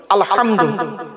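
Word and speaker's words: الحمد: আলহামদুলিল্লাহি রাব্বিল আলামিন আলহামদু এই গলার ভেতর থেকে এটা উচ্চারণ করবেন আলহামদু আলহামদুলিল্লাহ মানে হচ্ছে সমস্ত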